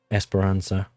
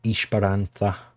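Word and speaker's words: Esperança: Espiransza or Ishbaranta I think is is how it's pronounced.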